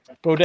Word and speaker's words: Bodet: Do you know how to pronounce it? Bodette. From Motel. Bodette.